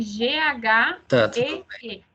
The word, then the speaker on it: ghee: O ghee se escreve G-H-E-E, uma palavra em inglês.